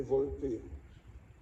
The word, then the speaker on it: Volpe: Brigadier Arnaud Volpe, prononcé Volpe, le régiment de hussards parachutistes, 1er RHP, mort pour la France.